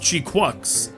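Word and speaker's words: GQuuuuuuX: Okay, I saw the movie a few weeks ago, and it's actually pronounced Chi-Quux.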